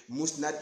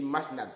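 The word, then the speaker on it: Musnad: Au lieu de Mousnad, j'ai dit Masnad, c'est-à-dire au lieu de Mou, j'ai dit Ma.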